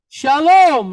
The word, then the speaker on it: shalom: protection and safety okay so Shalom here with loam the accent is on where the end of the word 99 of Hebrew words all have their accent where the end of the word so shalom okay so let's move